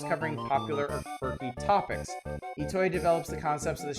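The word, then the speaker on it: Itoi: You may not have heard the name Shigato Etoy, pronounced Ittoy before, but his face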